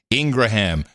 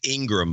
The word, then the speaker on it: Ingraham: Opinion people are Hannity, Ingraham, Tucker Carlson. It's Ingram, by the way.